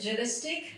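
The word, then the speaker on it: gelastic: So it's pronounced as jealistic.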